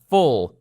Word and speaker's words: full: خب full رو چجوری تلفظ کنم؟ هیچ کاری نداره. لطفاً این یو رو تلفظ نکن و ف رو بچسبون به ل. اینجوری هم بگو ل رو. اوکی ل نیست. پس full.